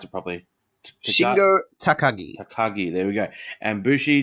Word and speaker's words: Takagi: Then we had LIJ, which is Shingo I can't pronounce it properly. Shingo Takagi. Takagi, there we go.